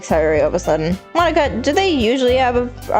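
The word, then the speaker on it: Monika: Monka, that's not how you say my name.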